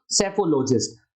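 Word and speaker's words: psephologist: यहां पर P silent है इसलिए शब्द कहा जाएगा सेफोलॉजिस्ट।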